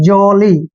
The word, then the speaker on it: jolly: Next है JOLLY, जे का उच्चारण जय करते हैं, ओ को ओ की मात्रा लिखते हैं, डबल एल को ले पढ़ेंगे और वाई को ई की मात्रा लिखेंगे, जॉली।